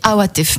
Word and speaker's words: Awatef: Awatef. Ok, Awatef. Awatef. En français on dit Awatef, mais le A, est-ce que tu sais prononcer le A, Rocco? Le A. Non, c'est Awatef.